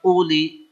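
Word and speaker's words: أولي: Waw itu jangan dianggap. Sehingga bacanya, ya uli.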